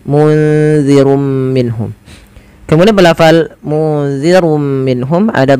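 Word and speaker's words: مُنذِرٌ مِّنْهُمْ: Maka nunnya disamarkan ke za. Munzirum minhum.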